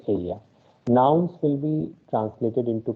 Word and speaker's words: ella: So I was telling you all that how this double L is pronounced as ja. So that is why this she in Spanish is pronounced as ella. Okay. So two new pronunciations are here for the letter E, which is pronounced as A, and double L, which is pronounced as Y. So it is aya.